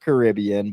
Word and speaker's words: Caribbean: the Pirates of the Caribbean yeah it's technically pronounced Caribbean but growing up I always say Caribbean I know you're the same way yeah so